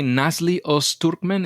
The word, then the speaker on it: Nazlı Öztürkmen: let's do this we have with us today nasle urman is that a pronunciation of your names and last name yeah